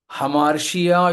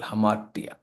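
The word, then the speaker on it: ἁμαρτία: ഹമാർട്ടിയ ഗ്രീക്കിൽ എഴുതുമ്പോൾ എ ആണെങ്കിലും ഉച്ചാരണം ഹ എന്ന. ഗ്രീക്കിൽ ആദ്യം അൽഫ എ എന്ന അക്ഷരം വന്നാൽ അതിൽ കൊടുക്കുന്ന ഒരു ചുനിപ്പൊക്കെ ഉണ്ട്. അതനുസരിച്ച് ഹ എന്ന് ഉച്ചരിക്കാറുണ്ട്. അങ്ങനെ ഹമാർട്ടിയ, ഹമാർഷിയ എന്ന് ചിലർ പറയാറുണ്ട്. എന്നാൽ ഷ്യ അല്ല, ടിയ എന്നാണ് ഗ്രീക്കിൽ ഹമാർട്ടിയ.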